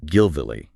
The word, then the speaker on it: Gvilli: Now to get the pronunciation right because this is important and the sources make a point of it. It's spelled G V I L L I but they emphasize the phonetic preservation.